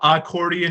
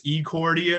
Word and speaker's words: Ecordian: And Ecordian is spelled with an E. It's not accordion, it's Ecordian.